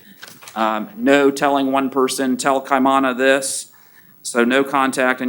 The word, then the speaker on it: Kaimana: the affidavit amanda jones i think it's pronounced kamana jones janet tiana club man with a k kiana yeah no i'm sorry i mean if you could just spell it k-a-i-m-a-n-a okay kaimana or kaimana jones you're to have no